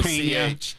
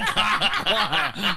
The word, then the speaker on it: Koch: And that wouldn't be cock. That would be Koch. Yeah. What the hell? Cut her off. Okay, you're right. You're right. It's It Koch.